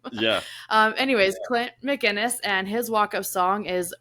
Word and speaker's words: McInnes: my guest is Clint McKinnis did I say that right yes you actually did that was really surprising